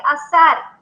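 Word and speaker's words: אזר: necio delante de ellos el verbo ceñir en hebreo se pronuncia azar y significa ajustar circular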